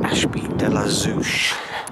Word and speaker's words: Ashby de la Zouch: standing right out of the great tower at Ashby de la Zeus that's how you pronounce it near Leicester if you love Heights